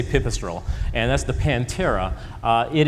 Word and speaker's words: Pipistrel: This is there's as many ways to pronounce the name of this company as there are people who try to pronounce it. We say Pipistrel, and that's the Pantera.